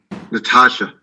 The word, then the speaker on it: Natasha: thank you you're welcome natasha and excuse me if i'm pronouncing that wrong hi can you hear me yes you are pronouncing it correctly my full name is